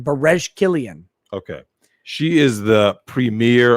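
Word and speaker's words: Berejiklian: all that same uh b e r e j i k l i a n bares killian okay she is the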